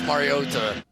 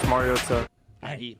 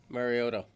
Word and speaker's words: Mariota: Marcus Marota. That guy's wrong. That's all I'm going to say from now on. Mariota, I can't shake Andy Reid tickling tonsils.